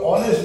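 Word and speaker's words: honest: দেখছি যে ওটা আওয়ার উচ্চারণ হচ্ছে এইচ এর উচ্চারণটা উচ্চ আছে অর্থাৎ আসছে না কাজেই আমরা এখানে অ্যান আওয়ার লিখবো অনুরূপভাবে অনেস্ট বয় সেখানে লিখবো অ্যান অনেস্ট বয় ঠিক তারপর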